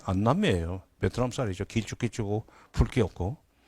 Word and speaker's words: 안남미: 우리는 이제 안남이라고 그러고 그것도 발음 잘못해가지고 6.25 전쟁 후에 미국이 보낸 동남아 쌀을 알랑미 그랬는데 그게 안남미예요.